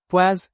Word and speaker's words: poise: The poise pronounced Paz is a unit of measuring vascosity.